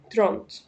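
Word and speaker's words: trente: ده لو هكتبها ترند، بس طبعا النطق بتاعها ترونت.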